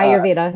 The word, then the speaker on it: Ayurveda: And in Ayurveda, I think I'm pronouncing it wrong, Ayurveda, right? Uh, Ayurveda, yeah.